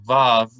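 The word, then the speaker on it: וָו: violin or very so in ancient times they pronounce it like the w like the word with or will for most people listening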